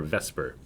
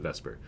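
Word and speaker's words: VSEPR: an O there or Vesper um of course the vowel isn't quite in the right place but we still pronounce it Vesper uh so let's break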